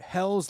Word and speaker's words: Helles: So this is their Hell's Lager, Yep. HELLES It's lager.